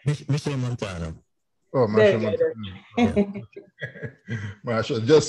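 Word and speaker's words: Machel Montano: Michael Matano, was it? Who? Michael Matano? Am I saying it right? Michelle Montano.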